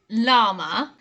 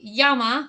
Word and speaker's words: llama: Number 5 is a really cute one, and we pronounce this llama. Now in Spanish it would be llama because the LL creates a y sound in Spanish, but we didn't bother